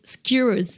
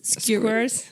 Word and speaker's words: skewers: Non, mais est-ce que je prononce pas skewers. Squares.